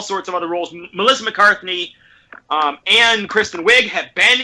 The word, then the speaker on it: McCarthy: said Kristen Wiig Melissa McCartney hey yeah McCartney correct pronunciation McCarthy and I don't this